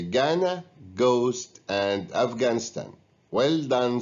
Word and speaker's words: Ghana: It's Ghana. We pronounce the GH as egg, whereas in these words we don't pronounce the GH, way and neighbor.